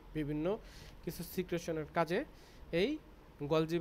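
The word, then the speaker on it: Golgi: ঠিক আছে, তারপর হচ্ছিল অনেকেই বলে গলগি, আমরা বাংলাতে গলগি বলি, কিন্তু আবার অনেকে প্রোনাউন্সিয়েশন এটার হচ্ছিল গলজি বলে।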